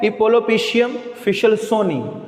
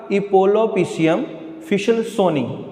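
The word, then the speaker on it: Epulopiscium fishelsoni: इस large value को satisfy करेगा, वो है इपोलोपिशियम फिशलसोनी। वर्ड दोबारा प्रोनाउंस कर देता हूं, स्लोली ज़हन में रखिएगा, इपोलोपिशियम फिशलसोनी, इपोलोपिशियम फिशलसोनी।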